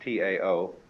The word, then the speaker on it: Tao: The way of the Tao, that is spelled in English T-A-O, but by Mandarin speakers pronounced approximately Tao.